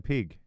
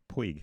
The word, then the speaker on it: Puig: No, don't call him Pig. Puig. Yeah, I know. Puig. I said Puig.